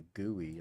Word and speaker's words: GUI: graphic user interface GUI I hate that pronunciation for the GUI I've always just called it a GUI or a guy I've never called it a gooey I don't know how